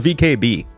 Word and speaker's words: VKB: And it rhymes with let them pee. It's called VKB.